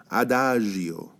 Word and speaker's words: Adagio: okay try saying after it's got very soft G here Adagio okay Adagio it means